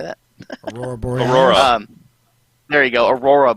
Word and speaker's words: Aurora Borealis: Aurora Borealis.